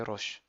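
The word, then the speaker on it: ראש: sert juste à prolonger le son o qui est déjà suffisamment long mais là il l'intensifie donc ça fait Ro et ensuite on a un Chine donc faut pas oublier le point en haut à droite il n'a pas de voyelle donc c'est un tout simple donc ça fait Roch deuxième mot c'est haé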